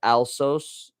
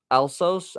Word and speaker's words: Alsos: And it's it's alsos alsos I believe it's pronounced.